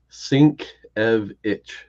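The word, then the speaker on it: Sienkiewicz: and this is wo Comics U the the pronunciation is sink EV it the only reason I know I pronounce it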